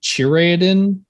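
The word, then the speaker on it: Chireadan: it's an elven doctor creatine although i think in the show they pronounce it chiraedin but i'm going based off of the way it's pronounced from the books that whenever i listen to them so who knows um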